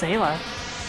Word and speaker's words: Ayla: It's pronounced Ayla, but the thing is that, no, the character's name is Ayla.